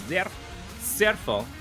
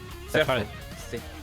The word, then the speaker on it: Zerfall: Oh, the L sound at the end is not... It's different. Yeah, it's like German. It's, in English it will be a fall, right? But in German it's like a fall.